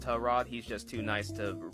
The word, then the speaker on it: Tyrod: else have been referring to this man as Tyrod since he entered the league and then one day a teammate of his came out and was like oh yeah by the way his name is pronounced tell Rod he's just too nice to correct anybody same